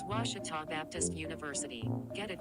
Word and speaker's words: Ouachita: ouachita sports digital network i've heard people say oh a cheetah oh wish tall oh a cheetah is it pronounced oh akita searching for washi at a baptist university back in texas everybody pronounces it wichita but really it's ouachita washington washington how would